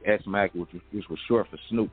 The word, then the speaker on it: ESMAC: put out through SMAC, spelled ESMAC, but I'm from the East Side, so I spelled the ES. You know what I mean? But it's pronounced SMAC, which was short for Snoop Mac.